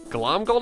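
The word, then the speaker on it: Glomgold: was flynn hard uh glom gold i think is how you pronounce his last name flint's heart is another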